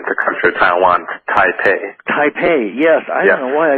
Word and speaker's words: Taipei: capital of um the country of Taiwan taipe Taipei yes I don't know why I stumbled over